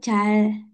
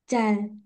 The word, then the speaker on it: 잘: Tadi kan huruf yang kayak angka 2 itu kan ada L, ada R. Nah, kalau si huruf ini ditaruh bawah jadi L ya. Pokoknya harus jadi L. Kalau di depan kayak nama saya jadi R gitu ya. Nah, ini bacanya bener 잘, 잘.